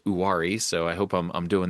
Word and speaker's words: Uwharrie: One of the teams in the Blue Ridge League is this Uwharrie Wampus Cats, who I learned from Greg how to pronounce Uwharrie.